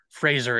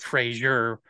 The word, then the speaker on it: Fraser: I saw a clip of Brendan the other day saying Fraser, it rhymes with razor.